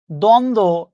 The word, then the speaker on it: দ্বন্দ্ব: দ্বন্দ্ব, আপনি লিখছেন এটা, এটা উচ্চারণ করেন কিনা?